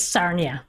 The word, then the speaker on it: Sarnia: I have to know how you pronounce the city <laugh>. It's Sarnia.